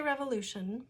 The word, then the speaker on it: revolution: When I say revolution, I am not stressing the syllable with the O.